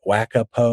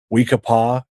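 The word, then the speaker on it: We-Ko-Pa: Um I'm going to in September I'm going to I always butcher the name it Wha- Wakapo or We-ka-pah up in Phoenix. Wakapo. I was close.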